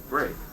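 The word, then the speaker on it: Brey: Bray. As in the donkey.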